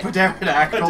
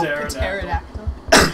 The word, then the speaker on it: pterodactyl: pigeon cut scene pigeon not the not the pterodactyl this game is beautiful you it's it's it's pronounced pterodactyl pterodactyl see you won't Auto steps these oh I